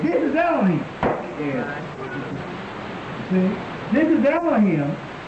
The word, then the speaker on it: Elohim: This is Elohim.